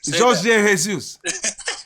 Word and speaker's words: Jorge Jesus: Jorge Jesus.